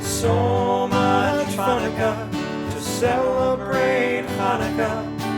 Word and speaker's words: Hanukkah: So much Hanukkah to celebrate Hanukkah. It's not pronounced Channukah. The C is silent in Hanukkah.